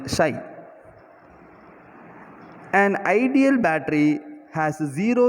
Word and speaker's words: psi: The pronunciation of this symbol, that is psi.